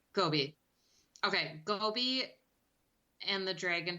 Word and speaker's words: Gobi: So, Gabi, is that how you say his name? I think it's Gobi, like the desert. Gobi.